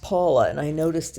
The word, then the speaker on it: Paola: a o l a looks like poola but it's pronounced Paula and I noticed it's